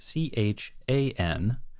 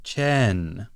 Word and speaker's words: Chan: engineer whose name is spelled c h an and could be either Chan which is how we would normally say that name if it was written in English like that it could be Chan or it could be Chen which is a little closer to the way that people say it in the movie and the Japanese here is Chen ah okay interesting then